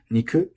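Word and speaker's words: 肉: Niku is odaka. You say niku ga.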